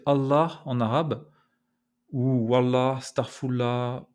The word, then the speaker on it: Allah: Voilà, j'espère que vous avez bien entendu ce L emphatique en version originale. Alors la prochaine fois que vous aurez l'occasion de prononcer Allah en arabe, ou Wallah,